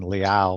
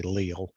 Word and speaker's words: Leal: that when when um when you grow up in north carolina instead of saying liao they say leo um so it's a